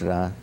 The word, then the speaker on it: Ra: Some say Re, but it's Ra.